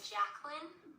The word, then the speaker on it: Jacqueline: Where's Jay Quillen at? No Jay Quillen here? Yeah. Do you mean Jacqueline?